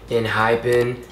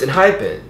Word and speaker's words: ENHYPEN: mispronouncing this group's name i've been saying in hyphen as if there's a h in the the name but there's no h it's just e n h y p e n so it's in hypen that's how you say the name but like why was